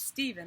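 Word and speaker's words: Стивен: You know how this is pronounced? Steven. C-T-N-B-H. It's Steven in Russian, but that's how you spell his name.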